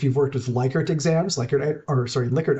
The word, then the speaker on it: Likert: So if you've worked with Likert exams, Likert items is the correct way to say it, where you say rate this on a scale of 1 to 5.